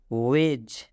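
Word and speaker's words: wedge: ज मतलब बचाओ वेज वेज में भी डी के बाद जी है य क तो जी से पहले डी है तो जब जी से पहले डी आ डी के बाद जी आता है तो डी साइलेंट होता है डी क्या हो जाएगा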